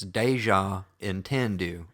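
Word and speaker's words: Deja Entendu: are from South Carolina it's deja and tendu I like that there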